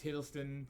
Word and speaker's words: Hiddleston: i said it wrong um i think it's hiddleston yes it is hiddleston i was correct i think it's his uh